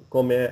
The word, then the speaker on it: comment: Comment allez-vous? So for the comment, okay, we're going to pronounce the T lightly. And the reason is that the next word starts with a vowel, okay?